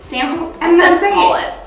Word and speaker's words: Smollett: Smollett.